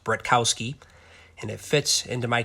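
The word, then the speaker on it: Bratkowski: First you have the Zeke Bretkowski, it's pronounced Bretkowski, and it fits into my collection perfectly.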